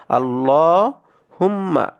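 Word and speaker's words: اللهم: ইন্নাল্লাহা ইন্নাল এই যে এই লামটাকে আমরা মোটা করে পড়বো লহা পড়বো এটাকে লাহা পড়া যাবে না ইন্নাল্লাহা পড়া যাবে না আমরা অনেকে ভুলবশত না জানার কারণে এটাকে আমরা লাহা পড়ে থাকি এটা কিন্তু উচ্চারণে ভুল হবে যেমন আল্লাহ হুম্মা আল্লাহ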